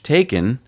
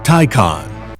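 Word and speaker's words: Taycan: on this show lately we've been pronouncing the Porsche taken as taken it does not I pronounced it here's how you pronounce it Tyco on Tyco on Tyco on it's I'm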